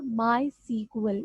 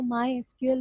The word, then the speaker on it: MySQL: वो कौन सा होगा, माई सीक्वल। इसको माई एसक्यूएल भी पढ़ते हैं लेकिन माई सीक्वल भी प्रोनाउंस किया जाता है।